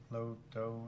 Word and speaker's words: LoDough: Get it? Low dough, anybody?